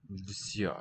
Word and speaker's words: всё: And then E with the two dots looks like an E is a ё.